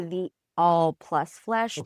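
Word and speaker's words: The All + Flesh: It is supposed to be the all plus flesh because it's the etmology of the word pancreas pen and creus.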